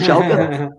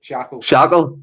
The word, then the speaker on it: Schalke: What isn't it, Schalke? Because when I first pronounced it, I said, what was it I said first of all? Shackle, shambles.